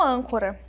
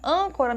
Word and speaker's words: âncora: Nós temos aí um acento circunflexo, que é o famoso chapeuzinho. Então, nós notamos também que na sílaba an, a sílaba é uma sílaba mais forte. É a sílaba mais forte, porque ela está acentuada.